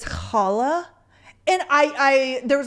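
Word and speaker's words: challah: a Jewish bread and she said Chala or Shala because it is spelled CH but it's Hala and I I there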